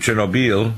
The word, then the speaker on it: Chernobyl: so the issue of chob chernobil which is the proper way to pronounce it means wormwood and now